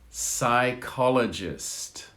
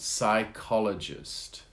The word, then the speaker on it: psychologist: how to pronounce psychologist psychologist the p is silent psychologist that's the person psychology